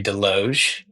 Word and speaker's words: Desloge: Um, so my name's Deloge. Sorry, I had to to toss that in there. Uh, the S is silent, but so yeah, I work at Harbor House Collective.